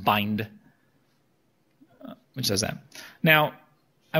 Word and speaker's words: bind: And so we have this kind of injection operator, it's pronounced bind, which does that.